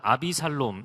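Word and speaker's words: 아비샬롬: 하나님 안에 거하는 것이죠 압살롬의 이름을 조금 플레임 으로 늦어서 발음을 하는 아비 살롬 입니다 근데 아비 는 정말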